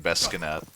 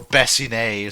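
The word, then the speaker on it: bassinet: Yeah, I like that Italian Bescanet. Or Bessinet, sorry. I keep calling it a Bescanet, but it's called a Bessinet.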